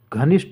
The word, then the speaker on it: घनिष्ठ: है तथा साथ ही घनिष्ठ का जो सही उच्चारण होगा वह घनिष्ठ हो जाएगा ठ आ जाएगा ट नहीं होगा तो ऑप्शन इसमें ए